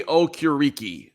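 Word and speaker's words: Okereke: to all right uh Bobby o'curiki that's how he said his own name so I think I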